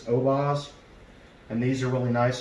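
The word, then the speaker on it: Oboz: good clean here so i believe you pronounce these obaz and these are really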